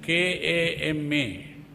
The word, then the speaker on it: kama: But some people spell it wrong as K-A-M-A. So if you say K-A-M-A, it is not kamma, it is kama.